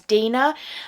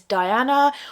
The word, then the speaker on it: Deeanna: Another mispronunciation of my name that I've had is Diana or Diane, and my name is not spelt like that.